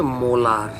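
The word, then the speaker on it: molar: যার উচ্চারণ হচ্ছে মোলার। তাহলে একটু সাবধান আমি যখন মোল পার লিটার লিখবো তখন ছোট হাতের এম ও এল মোল পার লিটার। আর যদি ক্যাপিটাল এম লিখি তার উচ্চারণ হবে কিন্তু মোলার।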